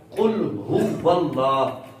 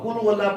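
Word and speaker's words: قل هو الله: کلو واللہ لفظ نہیں ہے. یہ قل ہے قل اور ہو ہے. قل ہو واللہ قل ہو واللہ قل ہو واللہ. اب اس کو قل واللہ پڑھیں گے تو ہم نے کاف پر پیش پڑھی اور لام پر پیش پڑھی اور یہ ہا غائب ہو گیا. قل واللہ قل واللہ نہیں قل ہو واللہ قل ہو واللہ. قل علیحدہ لفظ ہے اور یہ ہوا علیحدہ لفظ ہے.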